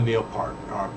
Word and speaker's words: Neil Peart: There will never be another Neil Peart, excuse me. That's how he pronounced it.